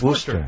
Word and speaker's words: Worcester: Mass that's how they say it Worcester Irish spelled Worchester but everybody knows it's Worcester it's pronounced or worse s-sure no that's with the